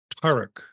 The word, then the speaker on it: Taruc: It's actually Taruc, but the way you pronounced it was fine too.